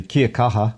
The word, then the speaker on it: Kia kaha: Kia kaha.